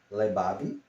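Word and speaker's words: לבב: Do hebraico Labab, coração que em hebraico se pronuncia Lebab, fala do homem interior, né?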